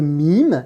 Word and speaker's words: Mīm: que tu vois ici c'est la lettre mime nîmes cesson c'est son nom mais quand on va à la prononcer on va là prononcé comme la consonne m me dire si je